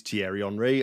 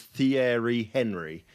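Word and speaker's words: Thierry Henry: it that way and I had no idea that tiar HRI is tiar HRI I pronounced it as theer Henry so there you go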